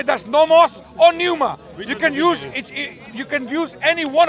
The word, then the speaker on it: pneuma: N-E-U-M-A. Pneuma. Which is pneuma, yeah?